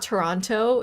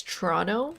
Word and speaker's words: Toronto: the left of us protestantism T we don't pronounce our te's uh in the Canadian accent it's uh it's not Toronto it's Toronto Toronto Toronto so no te's actually in the